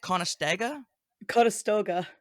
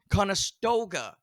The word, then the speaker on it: Conestoga: called again again how do you say that kasta Koga conastoga College yeah where is college um so it's